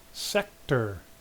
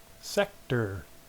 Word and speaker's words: sector: Sector. Sector. In this word, you can really hear the first syllable is accented. It's not sector. Sector. No, the first syllable.